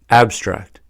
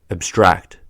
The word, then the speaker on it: abstract: When used as a noun or adjective, the stress is on the first syllable, abstract. When used as a verb, the stress is on the second syllable, abstract.